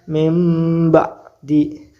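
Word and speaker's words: من بعد: suaranya menjadi suara mim nun mati dengan ba Nun bertemu dengan ba Ini hukumnya iqlab dibacanya membaca mim contohnya mim ba di mim ba'di jadi suara bnya enggak ada diganti menjadi mim mim ba'di seperti itu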